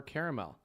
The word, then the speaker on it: caramel: Ooh, now we're talking about caramel or caramel. Does it have 2 or 3 syllables? So do you say caramel, 2, caramel, or do you say it both ways? Caramel. So 2? All right. I would also say it in 2.